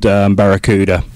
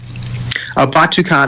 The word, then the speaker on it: Batucada: Now, the LP, The Beat, what made you decide to record Barracuda? Batucada, actually, is the pronunciation.